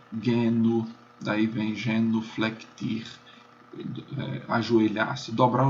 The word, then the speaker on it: genu: Então, o G é sempre duro, como em gato, guerra, mesmo diante de E e de I. Então, você tem a palavra joelho, que em latim é genu, daí vem genuflectir, ajoelhar-se, dobrar o joelho, na verdade.